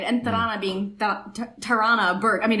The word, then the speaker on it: Tarana: all tarana right and tarana burke i mean if you pronounce it in a western way terrana who was the the